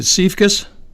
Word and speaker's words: Siefkas: I should have really gotten the pronunciation of your name first. I know it's Heidi. Is it Siefkas?